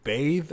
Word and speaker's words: Bathe: I think it's just either Bathe or Bath. I can't remember. It's Bathe. I don't know if it's Bath with just an E on the end of it or not.